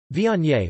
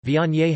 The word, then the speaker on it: Viognier: Viognier, French pronunciation, Vige, is a white wine grape variety.